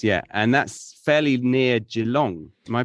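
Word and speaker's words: Geelong: Melbourne nice nice yeah and that's fairly near jalong am I pronouncing it right Jong yeah yeah yeah jalong that's uh 25 minutes away yeah yeah so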